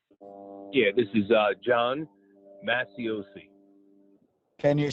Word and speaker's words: Macioce: Yeah, this is John Masiosi. Can you spell that, please, for the stenographer?